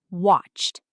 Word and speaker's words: watched: Watched has one. Watched. T sound.